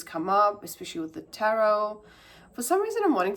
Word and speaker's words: tarot: don't know because cuz tarot tarot sp sp is spelled with a T at the end however it's silent when we say it so yeah there's something